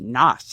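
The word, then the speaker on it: Nass: His name was Fred Noss, N as in Nancy, A-S-S. And it's pronounced Noss.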